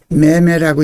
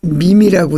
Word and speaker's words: meme: 밈이라는 단어는 MEME라고 하는데요. 이거를 매매라고 읽지 않고 밈이라고 있습니다.